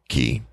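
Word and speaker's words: cay: like the word k k Yee but it's pronounced key anyway I get out there no problem let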